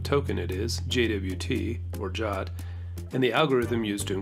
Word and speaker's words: JWT: a jwt or a jot token and let's learn a little bit more about jwts jwt or json web token often pronounced jot is a token that